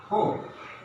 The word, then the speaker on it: hope: That means straight, not narrowly, but in this word, O is pronounced hope. That means our lips and our mouth is being narrow and should be slight narrow.